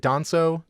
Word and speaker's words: Danso: Is it Danso?